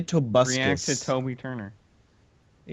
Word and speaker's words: Tobuscus: Say Tobuscus. React to Toby Turner. What are you gonna say? Tonebuscus? Say Tobuscus. Tonuscus. Say Tobuscus. Tobuscus? Yeah, that's his YouTube name. All right. Should be easy. Tobuscus.